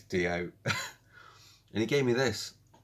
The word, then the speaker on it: Dio: guy dio he couldn't he didn't pronounce d.o white i was like okay wayne it's d.o and he gave me